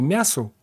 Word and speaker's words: мясу: мелкими буквами высекли примечания в слове мясу ударения на втором слоге зарождающиеся и банки интеллектуалы